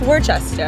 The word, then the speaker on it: Worcester: Like the sauce. No, it's Worcester, isn't it? This is Worcestershire sauce. Oh, Worcestershire. Psych! I heard it's a really crappy place to live. Worcester, yeah.